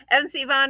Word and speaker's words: M. C. Vaughan: I think I pronounced that correctly. Correct? Is that correct? You got it. Yep. Okay. MC Vaughan is a Baltimore-based author of humorous contemporary romance.